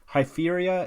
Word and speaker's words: Hypheria: Hypheria is spelled Hypheria, so how you'd expect.